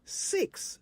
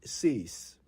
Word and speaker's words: six: of them this morning it's three not tree it's six not C's it's 11 not 11.